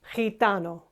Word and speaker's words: gitano: In those cases, G or G will become H, as in hello. Gemelos, gitano.